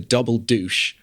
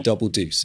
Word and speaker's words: Double Deuce: to a new club, which is called the Double Deuce, or as Sam Elliot pronounces it randomly in the middle of the film, the Double Douche.